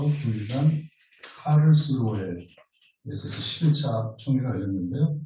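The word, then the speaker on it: Karlsruhe: 지난 9일간 8월 말 초 9일간 카를스루에에서 11차 총회가 열렸는데요. 독일 본토 발음이 칼스루어라고 하더라고요.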